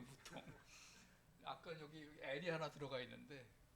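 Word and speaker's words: mouton: 영어로 양고기가 뭐죠 맨유에 불어로는 그 버튼이 이렇게 됩니다 아까 하고 비슷한데 발음이 이제 무통이에요 무통 아까 여기 하나 들어가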